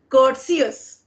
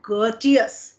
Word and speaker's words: courteous: you spoke correctly because they correlate this word with courtesy and then they speak they pronounce this word like curtus they pronounce this word